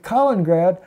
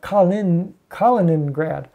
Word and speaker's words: Kaliningrad: And of course, Latvia there, right there along with Kaliningrad, or Kaliningrad. Everybody says I don't pronounce the other I-N. I pronounce it the Alabama way, so I know people